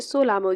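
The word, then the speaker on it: Tso Lhamo: चोलामो झील इसे सोलामो झील भी कहते हैं। ये यहाँ पर ये जो ता बना हुआ है ये साइलेंट हो जाएगा और इसे सोलामो झील कहते हैं।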